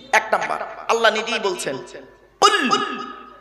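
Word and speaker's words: قل: কি বললাম কুল নয় উচ্চারণের পার্থক্য মানেও পার্থক্য কুল কয় বয় হস কুল আর কয় হস উলা কুল দুটো কুলের মধ্যে পার্থক্য আছে কুলু থেকে কুল মানে বলো আকালা ইয়া কুলু থেকে কুল মানে গেল বা খাও এজন্য বাবা যে ইমামের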